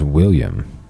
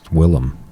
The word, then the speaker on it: Willem: for the longest time I thought his name was William Willem Willem Wow I I watched him on Conan and Conan had footage of Oh younger Willem Dafoe mispronouncing his own name as William Dafoe all right can't be